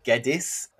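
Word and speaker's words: Geddes: let us know that it's pronounced geddis for Eric geddis which me and Ella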